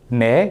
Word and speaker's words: 내: out of the way, 내, usually pronounced as 니, which means you're here, 앞길, path forward, 뺏기다, to have something taken away.